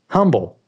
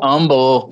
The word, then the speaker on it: humble: one humble right h-u-m-b-l-e humble but they pronounced it humble humble without the h without the h baby